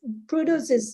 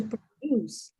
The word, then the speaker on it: produce: and uh noun but it depends how you say it for for verb you say to produce but when you say when you use as a noun you say produce produce this is the first